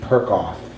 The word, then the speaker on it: Perkoff: Perkoff. And, yeah, it rhymes with something else, but we won't go there. And, which one was I gonna, oh, yes, of course, of course. Untitled by Stuart Z. Perkoff.